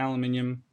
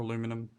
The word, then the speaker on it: aluminium: the crystalline and the aluminium quartz and aluminium or aluminum however you want to pronounce it and the copper